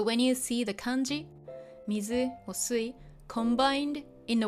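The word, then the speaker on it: 水: Sui. The onyomi for mizu or sui is sui. So when you see the kanji mizu or sui combined in a word with other kanji, you read it as sui.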